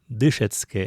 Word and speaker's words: дышецке: Дышецке - это повелительное наклонение от глагола дышецны. учиться. Второе лицо множественного числа. Учитесь. Здесь надо обратить внимание, что ударение в этой форме стоит на первом слоге.